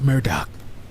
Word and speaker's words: Murdaugh: experts or the Murdoch it's pronounce Murdoch Alec Murdock I see